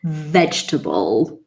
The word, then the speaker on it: vegetable: Vegetable, classic. It's not vegetable, no, not table, definitely not. Vegetable. It's like the j sound again, vegetable.